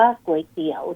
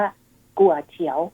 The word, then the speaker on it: ก๋วยเตี๋ยว: จีน กลาง เนี่ย เขา จะ ออก เสียง ว่า กั่ว เฉียว นะ คะ ถ้า แปล